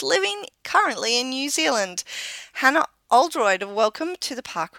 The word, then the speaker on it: Hannah Oldroyd: UK yet she's living currently in New Zealand Hana Oldroyd and welcome to the park runn adventurers thank